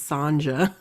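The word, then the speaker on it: Sonja: attacked I think okay her name is spelled s-o-n-j-a and I know sometimes it go it is pronounced Sonia right I'm gonna call her Sonia yeah it is Sonia but okay cool and it could be in this case it's Sanja I know I apologize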